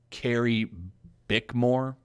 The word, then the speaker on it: Carrie Bickmore: to answer the question when asked by uh carrie bickmore that's how you say her name how do